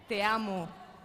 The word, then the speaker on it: te amo: Te amo.